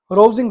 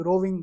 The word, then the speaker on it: Rovsing: Next आपके पास sign है रोजिंग sign, ROVSING, रोजिंग, रोविंग, जो भी आपने इसको प्रोनाउंस करना है, ROVSING, रोजिंग साइन होता क्या है?